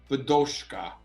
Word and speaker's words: Bidochka: way to success podcast today i have vadoska did i say it right yes i said